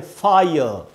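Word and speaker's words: fire: ये कैसे वर्ड्स में इस्तेमाल होगा, जैसे आग को हम बोलते हैं फायर, तो इसकी स्पेलिंग है एफ आई आर ई, और जो उच्चारण है वो है यहाँ लिखा है दोस्तों, तो यहाँ है आ ई अ का साउंड फायर। आर को ब्रैकेट में लिखा है क्योंकि ब्रिटिश इंग्लिश में इसको नहीं पढ़ना है, अमेरिका में पढ़ना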